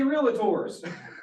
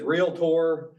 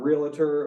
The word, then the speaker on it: Realtor: so you don't see real tours it is real tour and that's been a joke forever that that's make sure you're saying it right it is real Tor um not realator or real there's all kinds of